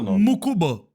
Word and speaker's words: Mukuba: O nome dele se escreve Mukuba, né? Mas se fala muub essa pronúncia americano.